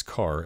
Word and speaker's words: char: int float and double A Char pronounced by some as car as in character is an integer stored